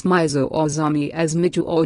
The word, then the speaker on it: Mizo: On the other hand, it is perhaps not justifiable to pronounce Mizo or Zami as Miju or Jumi.